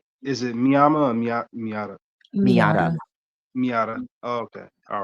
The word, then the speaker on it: Miyata: Oh my goodness, how do you pronounce his name again, Danny? I apologize. Ritomo Miata? Uh, is it Miyama or Miata? Miata.